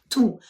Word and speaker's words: tous: собирательний образ Так колективний ту усі діти а ліж як я сказала так усі сири ітулі так есочка не читається ще раз зрезумуємо Отже слово ту коли S не вимовляється - це прикметник який